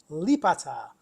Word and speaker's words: Lipata: Lipata.